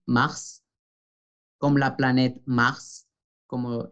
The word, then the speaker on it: mars: Palabra que nos hace recordar que ER es E, février, février, mars, mars, pronunciamos la S, pues es una excepción, mars, como la planet mars,